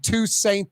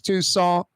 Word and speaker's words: Toussaint: I was saying Toussaint the other day. Of course, it's Toussaint.